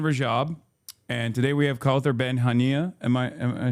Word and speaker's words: Kaouther Ben Hania: And today we have Kaouther Ben Hania.